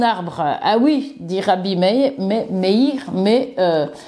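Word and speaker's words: Meïr: que un rabin célèbre Rabi me ou mir plutôt on doit prononcer dit que cet arbre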